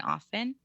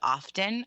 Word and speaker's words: often: pronounce the T and often yeah and so now every single Le time somebody's smart says often I want to be like you'll sound smarter in my books if you don't say the T the ironic thing is